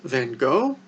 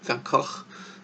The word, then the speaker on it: Van Gogh: But would we really say that it's on the same level as a Rembrandt, as Van Gogh, Van Gogh? That's his Dutch, the Dutch pronunciation of his name.